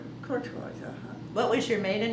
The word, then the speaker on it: Courtois: Courtois. And is that French? Yes, and it's not, I'm not pronouncing it properly, but that's how it's always been since I've been in the family.